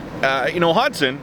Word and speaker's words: Hodgson: That said, uh you know, Hodson has that silent G in his name, and I think it's